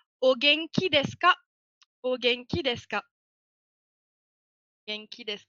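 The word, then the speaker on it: お元気ですか: Et ça se prononcera Ogenki desu ka?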